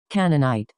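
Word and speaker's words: Canaanite: the Canadi canni let me see how you pronounce that canonite canonite I'm sorry Yahweh over that of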